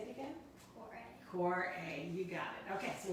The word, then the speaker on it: Kvarøy: master at this because the v which normally you would try to think about how to get that sound out in norwegian is a w right so how do